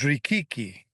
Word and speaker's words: Richichi: One name not so familiar to most people is Natale Richichi, properly pronounced as Richichi, and called Big Chris by his friends.